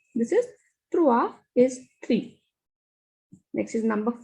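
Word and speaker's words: trois: is at the end so will not pronounce this s this is trua is three next is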